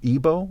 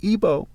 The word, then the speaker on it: Igbo: Obi meaning king in Ebo, which is the word Obi spelled backwards. It can be spelled IBO and IGBO where the G is silent.